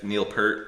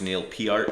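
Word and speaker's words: Neil Peart: this one doesn't have Neil per on it actually pronounced Neil PR but Neil per here America and uh you know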